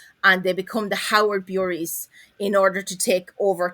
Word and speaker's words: Bury: It's Bury, not Berry.